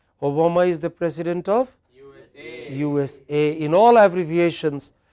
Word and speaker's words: USA: is the president of USA in all abbreviations in all abbreviations it is the last component please write that takes